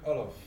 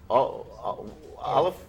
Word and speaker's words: Wolof: We speak Wolof. Olive? Wolof. Olive? Wolof. Huh. And French too. Olive and French. Yeah. Is that like Wolof?